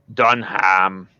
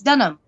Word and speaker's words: Dunham: see done here my say Dunham done ham no the H is silent it's Dunham Donna yeah I know